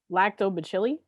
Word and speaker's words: lactobacilli: of bacteria called sam get in here and pronounce this word this one yes lactobacilli lactobacilli that's what sam said that's what it